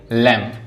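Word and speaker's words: lamb: जैसे लैंप। लैंप में क्या है? बी साइलेंट है।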